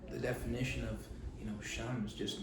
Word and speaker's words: 𐤔𐤌: name translates to uh sham sham s h a m you know whereas shenm would be the angloized version of it but then he then